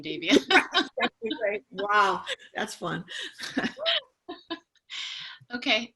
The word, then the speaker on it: Davia: I was supposed to be a boy, like Dave. So just think of Dave, you'll be fine.